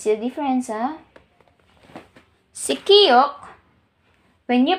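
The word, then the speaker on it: 키읔: When I say aspirated, you have to produce more air para ma-pronounce natin siya na maayos.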